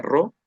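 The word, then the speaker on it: ρ: Entonces, al final, bueno, acá dejé esta P que se pronuncia RO, que es también en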